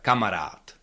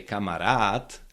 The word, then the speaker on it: kamarád: The same case would be with kamarat. Camarat. Yeah. That means a friend and you again you cannot stress the last syllable where there is long a uh you cannot say kamarat. Camarat.